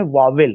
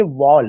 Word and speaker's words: vowel: वावेल है। और हम उसका प्रोनाउंसिएशन वावेल वावेल ही कहते हैं और उसमें दो सिलेबल निकाल देते हैं। उसका प्रोनाउंसिएशन वावेल ना होके वॉल है।